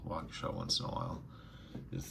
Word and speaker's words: Waukesha: So it wasn't Milwaukee, it was Waukesha.